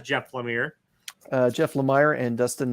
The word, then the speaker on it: Jeff Lemire: this is jeff lemire i heard it in an interview pronounced by jeff lemire as jeff lemire uh jeff lemire and